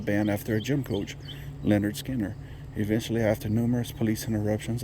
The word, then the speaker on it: Lynyrd Skynyrd: debut their debut album leonard skinner pronounced leonard skinner announced the group to